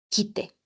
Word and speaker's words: kite: Kuru, kite. Bien. Mucho cuidado de la pronunciación de kuru. Bien. Es kite, kite, kite. No es kite, no. Y tampoco es kite.